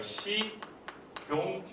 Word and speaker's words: 식용유: 얘가 연음 현상이 돼서 위로 올라와야겠죠. 그래서 뭐가 돼요? 식용유 이렇게 되고 있었습니다.